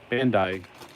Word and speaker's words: Bandai: But anyway, so he was talking about these kits by Bandai, which I guess now is pronounced Bondi. I don't know. Evidently, I don't know anything. I've been pronouncing it wrong all my life.